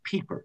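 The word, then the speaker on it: Pieper: a really good writer catholic writer is joseph peeper you know that name yeah not piper's pronounced people leisure as the basis of culture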